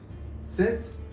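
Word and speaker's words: Z: من مهم‌ترین حرف الفباست ست باید توجه کنید که به صورت فونتیک ت اس نوشته میشه و تلفظی هم در همین راستا داره یعنی به جای ز ما میگیم میگیم میگیم ست خیلی باید دقت کنید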